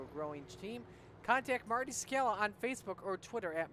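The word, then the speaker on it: Czekala: growing team, contact Marty Sakala on Facebook or Twitter at Marty Sakala. That's spelled C-Z-E-K-A-L-A.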